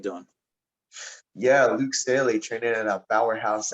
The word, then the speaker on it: Staley: last name wrong is it's staley yeah that's it just it's just like stanley without the n okay so luke staley